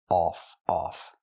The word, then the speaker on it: off: cup and up U the word is pronounced off we use the a sound like on off ball call Audio a a it's back here off off they cut off words they cut off words not of but off example what happened to